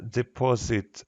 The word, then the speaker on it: deposit: good when we seen deposit the second syllable stressed it is the second syllable is stressed stressed yes the second